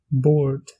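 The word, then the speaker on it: bord: Pour dire table, on dit board.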